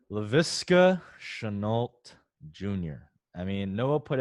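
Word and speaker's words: Laviska Shenault: dynasty now one guy you're not fading mike pronounce his name for us because i love this name leviska chanult jr i mean noah put out arguably i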